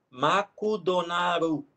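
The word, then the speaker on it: マクドナルド: por exemplo mcdonald's mcdonald's é o japonês se escreve em sílabas e falem sílabas então escreve makudonarudo e aí você tem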